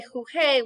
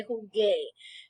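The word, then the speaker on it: jugué: We don't want to say juge, we want to say jugue. You don't pronounce the U. The U is silent. It's just there to make this hard, a hard G sound.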